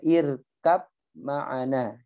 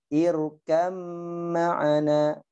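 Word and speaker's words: ارْكَبْ مَعَنَا: Contohnya irkab ma'ana, gitu ya. Cara bacanya bagaimana? Irkam ma'ana, seakan-akan mimnya enggak ada. Ya, afan, seakan-akan ba-nya tidak ada. Jadi bacanya apa? Irkam ma'ana, jadi satu.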